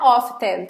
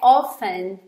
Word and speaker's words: often: E reparem que aqui não é often, tá bom? A gente já teve uma aula de pronúncia, a gente falou dessa palavra. Aqui a pronúncia é often. O T ele some, tá?